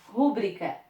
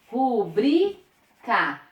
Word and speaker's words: rubrica: Rubrica. Recorde. Rubrica. Recorde. Eu tenho uma paroxítona terminada em A, uma paroxítona terminada em